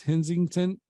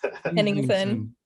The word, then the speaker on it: Hennington: That was from Chris Hensington. Okay. Hennington. Oh my God. Always trying to add a T to his name.